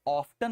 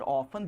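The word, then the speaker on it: often: Master जी मिलते तो मैं उन्हें बताता अब कि सर ऑफ्टन और ऑफन दोनों पढ़ते हैं इसको, टी यूएस इंग्लिश में साइलेंट नहीं रहता है, ठीक है।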